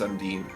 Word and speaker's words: Sundin: Sundin is how it's spelled, but it's pronounced Sundin.